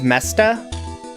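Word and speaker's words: Meseta: Yeah, it's spelled M-E-S-E-T-A. I pronounce it Mesta. I don't think that's probably correct. All right.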